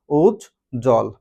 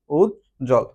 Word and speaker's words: উজ্জ্বল: একটু খেয়াল করে দেখি এক্ষেত্রে কিন্তু আমাদের কি ব এর উচ্চারণটা আসতেছে না উজল উজল অর্থাৎ যুক্ত ব্যঞ্জনের সাথে আমাদের কি দ ফলার উচ্চারণ হবে না ওজল ওকে